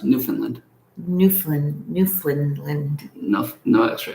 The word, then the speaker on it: Newfoundland: where is that is that in england newfoundland new finland it's not new finland it's pronounced newfoundland newfoundland newfoundland no no extra eleanor hi irene